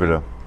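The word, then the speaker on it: Kibodeaux: Kibido. Kibido? Yes, sir. That's spelled K-I-B-O-D-E-A-U-X.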